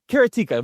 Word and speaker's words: Karateka: So sounds like erotica. I'm sorry. It does. Karateka.